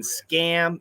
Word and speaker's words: scam: and scam huge difference scum is a short you don't stretch it scum and scam is a short a stretch that sound previous from Russia how